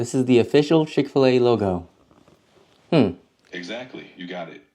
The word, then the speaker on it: Chick-fil-A: Chick as in chicken, fill like filet, and then A at the end.